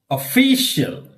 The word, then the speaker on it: official: Official.